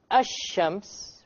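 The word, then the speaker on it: الشمس: Okay, there's nothing to do with the sun and moon, but it's just that the Arabic word for ash-shams, the lam is silent, and the Arabic word for al-qamar, the lam is not silent.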